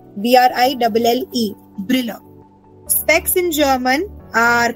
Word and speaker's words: Brille: If I am teaching you that specs in German are called Brille. Brille. B-R-I-L-L-E.